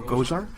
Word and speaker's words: Gosar: I just think about Ghostbusters.